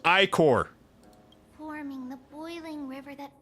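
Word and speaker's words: ichor: spills unto the land it's pronounced iicor forming the boiling river that flows through the legacies of heroes who take their stand you are Are you done?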